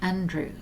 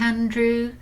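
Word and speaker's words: Aindriu: europe at first but i think you pronounced it andrew but it's spelt a-i-n-d-r-i-u and i think that's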